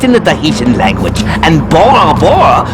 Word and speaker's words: Bora Bora: The letter B does not exist in the Dahian language and Bora Bora should actually be pronounced Bora Pora.